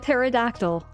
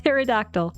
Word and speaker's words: pterodactyl: It's like pterodactyl. It's like pterodactyl, but the P, it's not the T. It's the P that's silent.